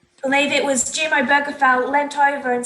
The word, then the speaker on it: Obergefell: And people wanting to say Obergefell, I did look up how to pronounce it. Donc j'ai bien regardé comment prononcer le nom. It's Obergefell.